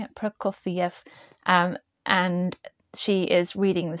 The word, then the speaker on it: Prokofiev: Am I pronouncing it? Prokofiev.